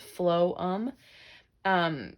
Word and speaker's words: phloem: this is going to be the phloem pH LOM pronounced flow um the way you remember